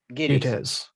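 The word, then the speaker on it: Gittes: Giddies.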